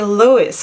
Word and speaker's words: Lois: at midnight palette from lois cosmetics now my husband who is american he just told me lyra you cannot say lois cosmetics you have to say lois cosmetics so if that is